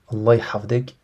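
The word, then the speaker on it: الله يحفظك: Allah hafdek avec un ha. Vous savez le H très prononcé, le H Allah qui veut dire qu'Allah te préserve que Dieu te préserve que Dieu te préserve.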